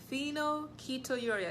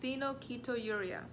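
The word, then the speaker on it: phenylketonuria: so far we've done four okay number five phenol keto urea let me spell it for you p-h-e-n -yl k e t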